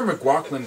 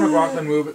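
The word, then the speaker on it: McLachlan: suffer from irish because there's like the sarah mcgucklin kind of uh i pronounced that mispronounced that word too much yeah and uh cage this is just getting annoying now but there's like the sarah mclaughlin music playing all over the thing and it's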